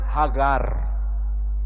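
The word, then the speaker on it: הגר: Maka Hajar kalau bahasa Arabnya mereka menyebutnya Hagar, huruf G, gimel.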